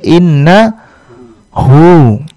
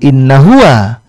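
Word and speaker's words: إنه: Inna ditambah dengan huwa menjadi inna hu. Huwanya nanti akan berubah sedikit cara bacanya menjadi hu saja, bukan inna huwa, tapi kita baca menjadi innahu.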